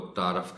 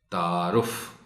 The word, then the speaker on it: تعارف: ضرورت ہوتی ہے۔ تعارف، عام طور پر پڑھنے اور بولنے میں لوگ تعارف کہہ جاتے ہیں، رے پر زبر استعمال کر جاتے ہیں، صحیح تلفظ ہے تعارف۔ بے تکلف، یہاں لام